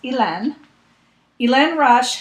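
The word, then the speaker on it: Hélène Rush: by ilan rush and i looked up how to pronounce her name because i wasn't sure she's french she lives in maine but she's french and it's ilen elaine rush has a pattern in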